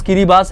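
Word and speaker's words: Kiribati: यस, इसका pronounce किरिबास है।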